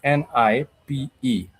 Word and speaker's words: nipe: N I p e n i p e.